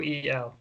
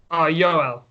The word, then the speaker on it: Yoel: Yeah, it's Yoel. Yeah, how do you say it? Yoel. Yoel? Yeah, that works. Yeah, like Joel, but yeah. Like Yul Brenner? He has a U, not an O.